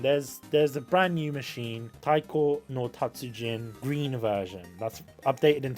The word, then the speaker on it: Taiko no Tatsujin: It's pronounced Taiko no Tatsujin.